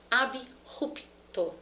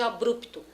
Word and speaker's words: abrupto: subli, é sublinhar, subliminar, abrupto, nada de abrupto. Aquela pessoa entrou na sala de forma abrupta e não abrupta. A pronúncia é ab mesmo separado.